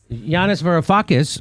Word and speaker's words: Yanis Varoufakis: Yanis Varoufakis.